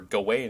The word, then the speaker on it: Gawain: But, Sir or Gawain is the common. I don't know if it's the English pronunciation. It's definitely the American one. But I did see, like, looking it up, that like Gawain is probably the more correct pronunciation. Although both are acceptable.